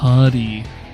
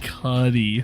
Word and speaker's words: Cudi: Cudi. Yes. Pronounced Cudi. Yes. Definitely was thinking Cudi. No, that's not right. Like cooties. No, not like cooties.